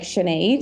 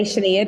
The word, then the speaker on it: Sinead: And I'm like, no, how you say lemonade? It's like Sinead. Yeah, that's a good one. I say Sinead because I say lemonade.